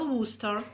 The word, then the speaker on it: Worcester: Et regardez comme c'est intéressant - Worcester est écrit en anglais, mais prononcé différemment - Royal Worcester.